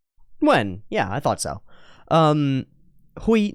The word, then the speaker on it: Nguyen: And people often say it like Nugent. Nguyen.